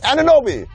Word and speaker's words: Anunoby: Almost as terrifying as how you pronounce his name. It's Anunoby.